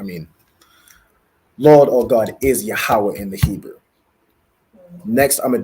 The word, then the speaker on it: Yahawah: another word I want you to get is yahawah so ya a h a w a h